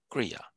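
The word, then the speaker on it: क्रिया: The R is a little like what do you say? Prominent in Hindi.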